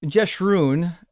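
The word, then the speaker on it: Jeshurun: Um, jesun is typically how it's pronounced and it's it's supposed to be a a term of adearment.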